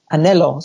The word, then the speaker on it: anhelo: would use a lot is anhelo, which is it's spelled A-N-H-E-L-O. And at first I was like, how do you say that? Anhelo? Anhelo.